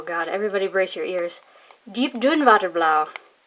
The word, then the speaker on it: Diep-Duinwaterblauw: Diep-Duinwaterblauw. And I just pronounced that like it was German because that's the closest I can do.